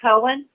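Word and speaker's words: Coan: They're going to take on the case and work with Tom Cohen, his attorney, and it's spelled C-O-A-N, Tom Cohen.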